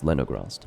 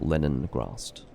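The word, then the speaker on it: Lenigrast: It's Leningrast, not Leningrast. I inserted an N that didn't exist into that name.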